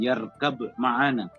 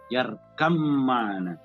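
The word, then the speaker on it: ارْكَبْ مَعَنَا: Ya, tapi cara membacanya ya bunayyar kam ma'ana. Bukan yarkab ma'ana, tapi yarkam ma'ana.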